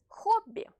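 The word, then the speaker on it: хобби: This letter, which is written like in English X, is pronounced H. In Russian, this sound is more pronounced than in English. Hobby, hobby, hobby.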